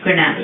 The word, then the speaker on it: Granat: How did you pronounce Maurice's last name? Granat. Is it Granat? Okay, so tell me a little bit about Maurice.